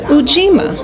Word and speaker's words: Ujima: We are now on the third day of Kwanzaa, known as Ujima. That's U-J-I-M-A.